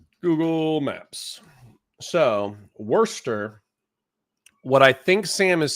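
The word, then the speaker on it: Worcester: Worester, which is spelled Warchester without the H. Google Maps. So, Worster, what I think Sam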